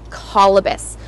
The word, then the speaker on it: Colobus: And what's really cool is how they got their name, Colobus. So as you might see in the caption, Colobus is spelt C-O-L-O-B-U-S.